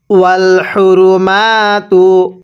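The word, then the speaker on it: وَٱلْحُرُمَٰتُ: পড়তে হবে না এরপরে ওয়াল হরমাতু ওয়াল হরমাতু হ্যা এই মিম এর মধ্যে আমরা এক আলিফ টেনে পড়ব কারণ যখন দেখব হরফের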